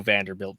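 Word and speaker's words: Vanderbilte: vanderbilt on this and my last name is actually uh it's also vanderbilt but with an e on the end um and the e is silent so hang on a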